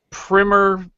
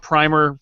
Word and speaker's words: Primer: cult time travel movie, Primer. You might call it Primer. That's the wrong way to pronounce it, but that's fine, whatever.